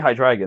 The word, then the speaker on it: Hydreigon: It is actually Hydreigon. That is the correct pronunciation of it.